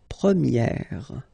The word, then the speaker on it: première: And then for the feminine form, you will get première. Okay, so it's open, this eh sound.